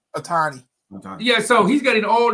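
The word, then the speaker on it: Ohtani: was it ohani what's his how you said pronounce his name yeah Otani Otani yeah so he's getting all these millions and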